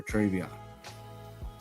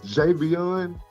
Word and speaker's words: Javion: do DNA testing for Travion. Judge, it's Javion. Javion is the one that I signed his birth certificate. It's Javion. Maybe I mispronounced it, but you know who I'm talking about.